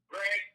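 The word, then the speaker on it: Greig: How do you pronounce his last name? Greg.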